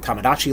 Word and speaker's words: Tamagotchi: Tom. Like Tamagotchi. Goat. Exactly. And then chi, like Tai Chi.